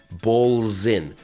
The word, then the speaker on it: balls in: tip about pronouncing that we take the word balls and in and we squash them together and we make a z sound so it's balls in the balls in your court now that's called connected